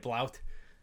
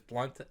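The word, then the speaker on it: Blount: his name i read i read it blout but it's blunt um i don't think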